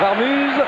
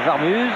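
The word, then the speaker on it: Warmuz: Pour la prononciation, c'est Varmuz, on dit bien Varmuz et on dit Wallem. On reste bien d'accord là-dessus.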